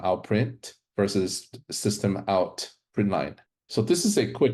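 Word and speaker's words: println: the point of entry we have syst out print Line This is pronounced print line it enables the printing of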